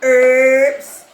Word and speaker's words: herbs: Herbs. Some people say herbs. I just laugh sometimes because I grew up calling it herbs and that the H was silent.